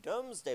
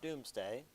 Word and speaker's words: Domesday: So this is all collected in the Domesday Book, not Doomsday. Again, though the British may pronounce it that way because they're dramatic.